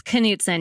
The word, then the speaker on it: Knudson: It's Kudson. You pronounce the K.